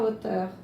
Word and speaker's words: hauteur: Regardez la hauteur. Hauteur, le H ne se prononce pas, mais on ne va pas dire l'auteur.